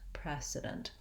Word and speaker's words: precedent: two unstressed syllables so my first vowel e in both words is the tense red uh red tent e vowel and i'm gonna spell it with letter e because that's how we usually spell the sound thinking about the e pre and making sure that you don't use pre or pray for this pre pre can also